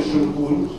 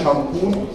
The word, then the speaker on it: шампунь: То же самое вы можете наблюдать в слове «шимпунь». Сейчас его произнес со старомосковским произношением, а вариант «шампунь», то есть с подчеркнутым «а» в первом слоге, это вариант петербургский.